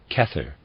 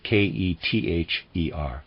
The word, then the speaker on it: Kether: head if he has great knowledge were called kether the crown by the ancient Hebrews readers side kether I'm pronouncing it that way it's spelled ke t h e r kether and of readers aside and this human